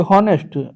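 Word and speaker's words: honest: और देखिए हॉनेस्ट अ हॉनेस्ट तो आपका ये भी जो है ये आपका एच साइलेंट है।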